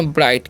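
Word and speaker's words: bright: ठीक है, इसे पढ़ेंगे ब्राइट। क्या पढ़ते हैं जी, ब्राइट पढ़ते हैं। यहाँ पर भी GH साइलेंट है, तो ब्राइट मतलब क्या होता है, ब्राइट का मतलब होता है चमकीला।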